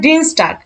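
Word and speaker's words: Dienstag: Germany বলা হয় মনটা জার্ম মানে বলা হয় ডিন স্টার্ক ডিন স্টার্ক আমরা কিন্তু আগের ক্লাসে দেখছি আলফাবেটের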